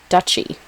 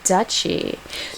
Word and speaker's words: duchy: for for it was which is spelled du c y we didn't know how to pronounce it so apparently the territory ruled by a Duke is called a duy oh a duchy so so the Duke